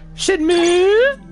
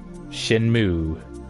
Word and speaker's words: Shenmue: Shenmue. See, I can't even fucking pronounce it. Shenmue. Moo. Shen, as in, like, the thing on your leg, moo, as in what a cow does.